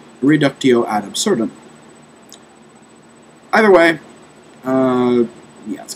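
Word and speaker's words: reductio ad absurdum: might be used for reducto adab serum uh sorry mispronunciation there reducto ad absurdum either way uh yeah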